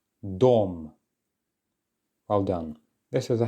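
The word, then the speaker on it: дом: try this yourself excellent Dom and then make sure to get those vowel sounds nice and clear Dom well done this is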